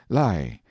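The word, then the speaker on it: Lei: called the L or Li pronounced like our word lie in the rine and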